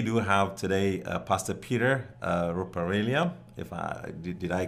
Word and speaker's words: Ruperelia: We do have today Pastor Peter Ruperelia. Did I pronounce Perfect.